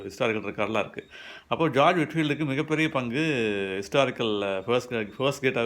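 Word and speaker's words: Whitefield: William பூத்து, William வில்பர்ஃபோர்ஸ் இவங்களெல்லாம் வந்து இவங்க லிஸ்ட்டில் வந்து ஜார்ஜ் விட்ஃபீல்ட்னு ஒருத்தர் இருந்தார். ஒயிட் ஃபீல்டுங்கிறதுக்கான ஸ்பெல்லிங் தான் அதில் இருக்கும். பட் விட்ஃபீல்டு தான் ப்ரொனவுன்ஸ் பண்ணணும்.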